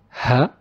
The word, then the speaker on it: ه: Today we will learn ha. Ha, it's like how we pronounce h in any English word, like hand for example.